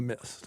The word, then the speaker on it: Myst: Riven, the sequel to Myst.